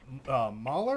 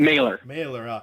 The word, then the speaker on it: Mailer: So you played David Mahler or Mailer? How you pronounce the last name for that? Mailer. David Mailer. So how close is that character to like you?